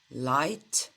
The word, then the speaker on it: light: Light blue car. В слове light много букв пишется, но произносится всего лишь 3 звука. Л, I, Т. Light. A light blue car.